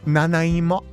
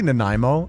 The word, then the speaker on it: Nanaimo: I had never heard of that before today and I was pronouncing it Japanese style. Naimo. And then I realized like, wait, this is Canadian. Probably Nimo, I'd imagine. Everyone except no Canadians know the national anthem of Canada.